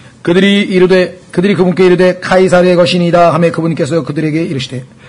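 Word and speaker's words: Caesar: 예 그래서 저라고 했는데요 영어로는 이라고 하는 영어 단어가 라틴어로 발음할 때는 K 발음이 됩니다 그래서 여러분도 아시는 것처럼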